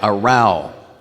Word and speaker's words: row: what he said yeah AAL rhymes with now spelled exactly the same as row but it means a quarrel or an argument when I read that